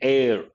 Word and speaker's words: heir: property or a title as an air h is silent at the death of